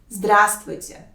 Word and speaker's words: Здравствуйте: It has 3 syllables. The first one is stressed. And the important note here that the first letter V is silent. So become easier to pronounce it, right? Здравствуйте. Instead of 4 consonants, you need to pronounce only 3 of them.